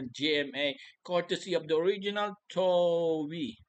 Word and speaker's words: Toei: courtesy of the original Toei. Toei pala pronunciation. I thought it's Toei. Toei po.